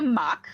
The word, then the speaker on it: MOC: So, it's actually a mock. So, it's pronounced mock and it stands for my Yeah, there you go.